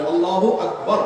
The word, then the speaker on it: আল্লাহু আকবার: আল্লাহু আকবার উচ্চারণ করার সময় আকবারের রাকে টেনে পড়া ঠিক হবে কিনা? না, ঠিক হবে কেন? তাকবীরের সাথে বলতে হবে আল্লাহু আকবার, আল্লাহু আকবার, এরকম বলা যাবে না।